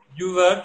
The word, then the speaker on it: Youval: Yuval, tu prononces très bien.